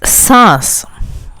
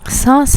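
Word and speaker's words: سانس: An example of it is saas. Saas is breath. Saas. Saas. There's a nasal sound in the middle.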